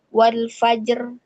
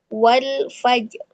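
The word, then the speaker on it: والفجر: Jadi mulut mengucapkan huruf ro tebal, namun dia tidak terlalu tampak gitu ya pengucapan huruf ro-nya. Gitu. Jadi bukan dibacanya wal fajr, tapi wal fajr. Seperti itu. Ro-nya tetap dibaca tafkhim ya atau tebal.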